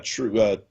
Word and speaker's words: Trieu: Yeah, True. Yeah, I believe you pronounce it True. Trieu. Trieu True.